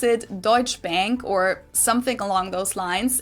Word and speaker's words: Deutsche Bank: That's how we pronounce it. Deutsche Bank is the largest bank in Germany.